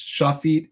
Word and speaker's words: Shafit: It's Shafit and Marid.